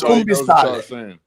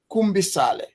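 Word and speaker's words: Kumbi Saleh: It's called Kumbi. Maybe you're not saying it right. It's Kumbale.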